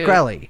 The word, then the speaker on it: Shkreli: know get this martin how do you say his name i always say wrong when you make fun of me shakarelli shakarelli no it's shkreli shkreli martin skrillex will